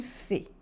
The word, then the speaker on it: fée: Okay, it's une fée.